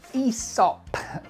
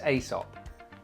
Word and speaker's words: Aesop: Everybody says Aesop. Aesop's Fable? Maybe it is Aesop. But I think the little squiggly thing makes it an E.